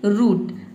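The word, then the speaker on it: root: अब देखते हैं कि अगर डबल ओ किसी भी वर्ड में डबल ओ हो तो इसे हम क्या पढ़ेंगे? उ पढ़ेंगे। उ जैसे कि रूट। रूट में देखिए डबल ओ आया है। आर का र हो जाएगा। डबल ओ का हो जाएगा उ और टी का हो जाएगा ट। ये हो जाएगा आपका रूट।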